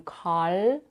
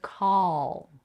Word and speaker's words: call: it with an R here the difference between call and call you want the second version where you touch only the tip of the tongue behind the upper teeth but the rest of